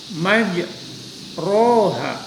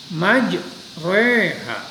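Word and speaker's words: مجريها: Perhatikan pada lafaz majroha. Ini tidak dibaca apa? Majroha. Nah, tapi dibacanya majreha. Majreha. Seperti kata mereka. Tapi sebenarnya tidak sampai re banget. Majreha. Jadi agak sedikit menekan.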